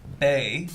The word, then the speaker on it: bae: shines in a wonderful way bye bye uh pronounced bae it is a term of endearment that people